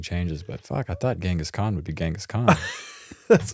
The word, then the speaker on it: Genghis Khan: I hate saying Genghis Khan. It's always been Genghis Khan, but it's apparently Genghis Khan.